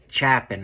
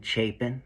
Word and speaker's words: Chapin: So, like, for example, he just said Chapin or something, right? Everybody knows it's Ethan Chapin, right? I mean, that's how everybody has been pronouncing it since November.